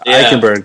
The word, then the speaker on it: Eichenberg: Okay, you'll have to help me on how to pronounce this. In Notre Dame, Liam Eichenberg. Eichenberg.